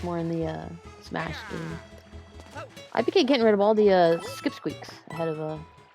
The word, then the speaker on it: iiPK: By the way, iiPK has 2 I's in his name, but as he tells people, the first I is silent. So we'll let it go. iiPK.